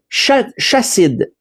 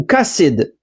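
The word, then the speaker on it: חסיד: Mais quand on regarde ici le terme, tantôt avec David, c'était Yadid, et là, on voit que c'est Chassid ou Kassid, dépendant comment on le prononce.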